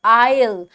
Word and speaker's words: aisle: Are eight supermarket, remember that you are walking along the आयल with the silent S. ठीक है, just think of the word ISLE, that is also आयल. That, उसका भी एस जो है वो silent होता है.